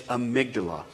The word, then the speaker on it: amygdala: Because if I spelled it the way it was spelled, I'd be like, Amundabugalakunda. I couldn't pronounce it. So I actually went online, I YouTubed it, and like, how do you say this? It's amygdala.